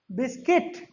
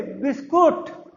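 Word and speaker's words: biscuit: कौन सा, बिस्किट। और आप क्या बोलते हो, मम्मी बिस्कुट। समझ रहे हो ना, बिस्कुट नहीं बच्चों, बिस्किट।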